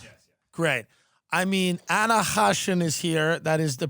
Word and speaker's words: Khachiyan: It's technically Khachiyan because it's an Armenian name. You don't say the K, but that sounds like you're like choking on a pubic hair, you know?